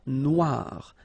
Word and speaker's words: noire: Okay, then here, la mer Noire. Same thing here that we had previously. Final not pronounced, okay, and then OI, remember, wa, noir.